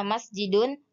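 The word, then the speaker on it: مسجدٌ: terakhir yang merupakan tanwin contohnya bahasa Arabnya masjidun cara bacanya masjidun bahasa Indonesianya masjid kemudian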